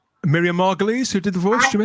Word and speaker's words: Miriam Margolyes: Miriam Margolyes, who did the voice, do you mean?